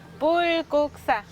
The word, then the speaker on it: 불국사: 자, 부처 불, 나라국, 절사 해서 불국사라고 읽어요. 불국사.